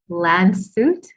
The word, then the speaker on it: Landshut: difference i think well currently you're playing in lan suit germany did i say it right you did